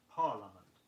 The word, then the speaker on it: parliament: Sound just 3 syllables in the word parliament.